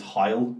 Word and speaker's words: Heil: But technically, it's Heil Hitler. Because it's H-E-I-L. Yeah. So it's Heil Hitler. But we just say hail because we're fucking idiots who can't pronounce other languages.